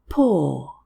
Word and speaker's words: pour: Pore. P-O-R-E. How do you pronounce this word? Pore. Four different spellings, but the same sound.